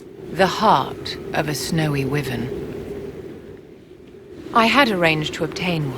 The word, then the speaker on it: wyvern: That is the first time I think I've ever heard a professional product pronounce it wyvern. That's how I thought it was pronounced growing up, just reading the word in books and never hearing it. But then at some point I was told it's pronounced wyvern. So I'm wondering, okay, is that a British pronunciation for it?